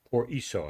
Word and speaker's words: por eso: of a concert entitled Por Eso, if I have that right. Tell us a little bit about Por that. eso, it means, yeah, it's pronounced in Spanish, but it's like, por